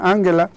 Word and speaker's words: Angela: muy de cerca a Ángela de hecho lo pronuncian Angela Angela Merkel me parece que